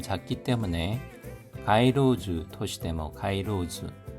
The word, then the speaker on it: 街路樹: 코부리나 타메 좀 작기 때문에 가이로즈 토시데모 가이로즈 발음에 주의해 주십시오.